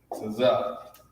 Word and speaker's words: Tazak: It's pronounced like this, Tazak.